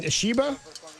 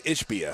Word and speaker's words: Ishbia: I keep saying his name wrong. Ishiba. I think it's Ishbia. Ishbia. I keep putting the I in the wrong place.